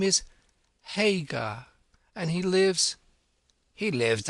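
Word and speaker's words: Haigha: His names His name is Hagar. He pronounced it so as to rhyme with mayor.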